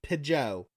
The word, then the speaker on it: Pidgeot: last comment was and i always pronounce pidgeot like pijo it sounds it sounds french it is french she must like french